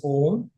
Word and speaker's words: Om: It's a Sanskrit word pronounced as Om.